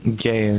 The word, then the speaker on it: Gayon: Gayon? Gayon, yeah.